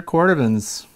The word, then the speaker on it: Cordovan: Then I find out that they're Cordovans, C-O-R-D-O-V-A-N, and it's pronounced Cordovan.